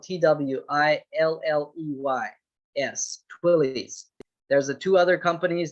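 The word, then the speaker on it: Twilley's: them to send you their hard copy twilly's is spelled t-w-i-l-l-e-y-s twillies there's the two other companies that we used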